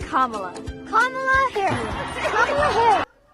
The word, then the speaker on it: Kamala: It's not Kamala. It's not Kamala. It's not Kamala. It's Kamala. Kamala Harris. Kamala Harris. Ô, Fábio, Larissa, não é Camila, não é Câmela, é Kamala.